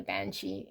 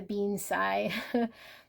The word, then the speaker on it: banshee: This is a banshee. Totally a banshee, not a bean Sai. I was saying it wrong.